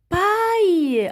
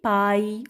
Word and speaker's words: paille: C'est paille. Ah bon? Alors je me rappelle très bien quand on a la prononcé. Oui, on a dit paille. Oui, exactement. Alors les enfants A-I-2-L-E se prononcent aïe.